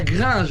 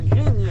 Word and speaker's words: La Grigne: salut ça va c'est c'est la gringe hein la grigne ah la grigne la grigne comme grignoé grigne ben voilà écoute